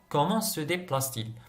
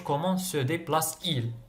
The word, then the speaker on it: comment se déplace-t-il: صاي باش شغل على جال النطق باش نطقوها comment se déplace-t-il. ما نقولوش comment se déplace-il.